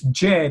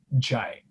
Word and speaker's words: Jay: It's Jay, they call it Jai.